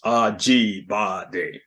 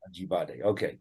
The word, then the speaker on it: Ajibade: Am I saying it right? Ajibade. 4 syllables. Ajibade. Ajibade.